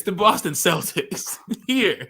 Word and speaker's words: Celtics: they killed people um it's actually pronounced Celtics here so he kept saying the Boston Celtics it's the Boston Celtics here like I understand